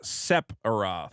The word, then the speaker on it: Sephiroth: Horrors trucks me okay so it's sep aroth seph seph Aro like a serif yeah seph what did I say Seth setho so I'm not putting enough emphasis on the P you're